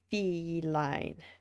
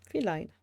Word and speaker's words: feline: Fee is like in feet. Feline.